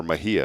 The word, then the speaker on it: Mejia: And he connected us to a lady named Maria Mejia, or Mejia is how you pronounce her last name.